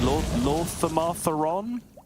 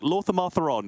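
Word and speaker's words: Lor'themar Theron: But you can say it like really, like Lorthamartheron. You can say it really like rhythmically, which is clearly the correct way to say it because it sounds the best.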